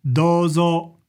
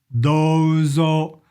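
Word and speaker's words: どうぞ: It's called どうぞ. どうぞ. It's got a long O sound.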